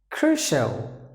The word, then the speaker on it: crucial: Crucial, crucial. Don't forget, any word ends with a CIL. It should be pronounced like shall.